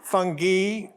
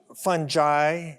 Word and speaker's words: fungi: the plural of fungus there are three ways they're all correct um fungi fungi and fun guy which is what I